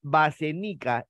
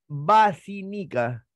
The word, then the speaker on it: bacinica: golpeé continuemos no se dice basenica es bacinica por la no licenciar